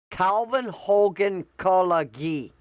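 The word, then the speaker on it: Coudenhove-Kalergi: Okay, here's how you pronounce it. Calvin Hogan Kolagi.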